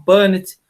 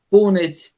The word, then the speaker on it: Punnett: A pronúncia não importa muito. Alguns autores falam Punnett, Punnett, Pinnett, enfim.